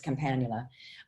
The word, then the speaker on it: Campanula: I learned it as Campanula, and actually Campanula is the right way to say it because it's Campanula. It's always the accent on the second syllable.